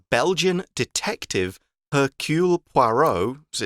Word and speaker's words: Poirot: Poirot boards the train with Boque.